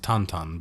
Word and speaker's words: Tintin: call it pirate is Tintin Tintin is from The Adventures of Tintin yes Tech technically pronounced tonon but yes and he